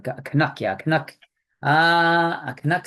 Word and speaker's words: Canuck: a what standup a kanak standup isn't that yeah as in Canadian or kanak a put put the stress in the wrong word there syllable K Canuck yeah Canuck uh a